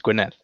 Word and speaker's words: Gwynedd: Gwynedd. Is that what it's called? Yeah, it's Gwynedd. Yeah. Oh, I thought it was like Gwynedd on the Llŷn Peninsula.